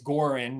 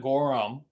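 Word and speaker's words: Goorin: want to call it as long as you say it right it's gorin not Gorham or gurin it's goren brothers that's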